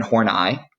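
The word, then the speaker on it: Karen Horney: we're born with um karen horn i that's e-y-e is kind of the pronunciation there she is mostly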